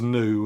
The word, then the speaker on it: nu: But the minuscule is that and that is new. And it does have that N pronunciation uh to that new as in new or net.